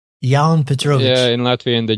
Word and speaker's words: Jaunpetrovics: uh not really it's ya Petrovic y Petrovic yeah in Latvia the J from L yeah so in lvia the J is pronounced as y instead of J okay gotcha gotcha and